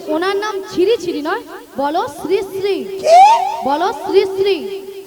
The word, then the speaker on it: শ্রীশ্রী: কেন আরে মাসি ওনার নাম ছিড়িছিড়ি নয় বল শ্রীশ্রী বল শ্রীশ্রীড়ি ি আমি কি সিড়ি সিড়ি